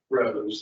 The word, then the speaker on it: Rose: Rose, like writing flower. I said good morning, Ross before, so I apologize.